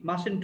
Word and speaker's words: mustn't: তো উচ্চারণ হচ্ছে মাসেন্ট উই, ঠিক আছে?